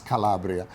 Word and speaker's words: Calabria: You know the pronunciation correct in Italian is Calabria and it's the name of a part of the tribe of Messapi.